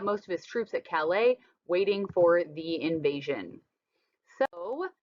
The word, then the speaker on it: Calais: But he assumed, and if you look at this map, that we were going to attack at Calais. It's a silent S there, because it is the shortest point.